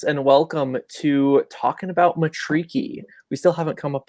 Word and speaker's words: Matariki: We are both LRG hosts, and welcome to Talking About Matariki.